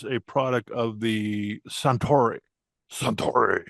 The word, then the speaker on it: Suntory: Suntory. You have to say it like a sumo wrestler.